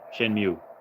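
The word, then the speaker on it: Shenmue: uh Shen mu yeah Shen mu is how it's pronounced Shen mu the Dreamcast game also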